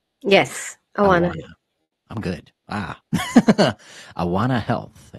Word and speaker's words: Awana: She found, how do you pronounce this? Awana? Yes, Awana.